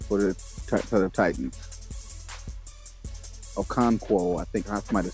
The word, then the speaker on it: Okonkwo: The tight end should be Chig Okono for the Titans. Okonkwo, I think I might have said his name wrong.